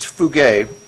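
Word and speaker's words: φεύγω: what he used is a Greek word that's pronounced fugay it's spelled p-h-u-e-u-g-o um which we get the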